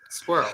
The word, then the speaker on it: squirrel: Squirrel. That is crazy. It's one Squirrel syllable. is such a weird one. Squirrel. I could see how someone would say 2, but it's 1.